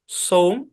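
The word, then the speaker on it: some: লাল কালি দিয়ে লিখি এস ও এম ই নিয়ম অনুসারে এই শব্দের উচ্চারণ হওয়ার কথা ছিল সোম কিন্তু এই শব্দের উচ্চারণ সোম না এই শব্দের উচ্চারণ হচ্ছে সাম ঠিক আছে তার মানে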